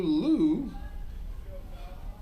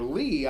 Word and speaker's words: Liu: Delivers ball 1 to the next batter, number 7, Chen-Yu Liu. Or Lee, I think that's how it's pronounced when it's L-I-U, Lee.